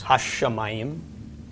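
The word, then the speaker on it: הַשָּׁמַיִם: Yes, ha-shamayim. Drag out the sh a little bit in the pronunciation.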